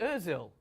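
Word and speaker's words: Özil: Mesut Ozil, rhymes with mill.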